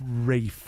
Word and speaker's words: Ralph: Wraith. Yeah. Okay. The L is silent.